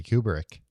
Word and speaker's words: Kubrick: Clarke and Stanley Kubrick. It's pronounced Kubrick, but yeah, you got it right.